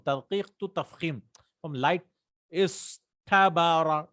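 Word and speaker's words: اصطبر: So, but we cannot say this ta, right? Because it's so difficult to pronounce. So they change this to a ta.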